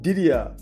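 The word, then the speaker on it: Didier: His first name is pronounced Ddia.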